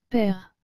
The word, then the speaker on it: père: et le mot père encore une fois comme le e à la fin ne se prononcent pas et que le e avec l'accent grave se prononce et ce qui nous donne maintenant le mot père en fait regardons ces